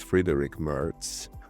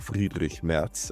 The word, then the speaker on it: Friedrich Merz: His name is Friedrich Merz, or Friedrich Merz, as we would pronounce it in Germany.